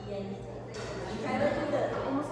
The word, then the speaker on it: diente: So where you might think it's diente, it's actually diente.